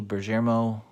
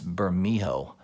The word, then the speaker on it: Bermejo: You've got the Lee Bergermo. I know I'm pronouncing his name wrong. It just comes off the tongue better that way. I think it's Bermejo, but I always say Bergermo for some reason.